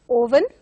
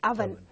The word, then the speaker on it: oven: So usually people mispronounce it as oven, but it has to be pronounced as oven.